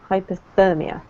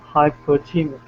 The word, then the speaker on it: hypothermia: Hypothermia. Hypothermia. Sorry. Hypothermia. Yes. Absolutely. So the emphasis on the therm.